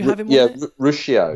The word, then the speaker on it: Ruscio: Rusco on there? Did you have what's his name? Dr. Rusco? Did you have him on there? Ruscio. Ruscio, that's how you pronounce it.